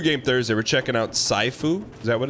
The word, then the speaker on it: Sifu: checking that's new game thursday we're checking out saifu is that what it's called sifu it's kind of like how you pronounce um what's the wolf's name in dark